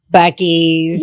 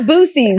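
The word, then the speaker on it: Buc-ee's: Bucky's. Bucky's have people, to. and it's not Boosie's.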